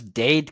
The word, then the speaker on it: Dade: those who don't know it's Dade County but obviously it rhymes with his last name just wanted to kind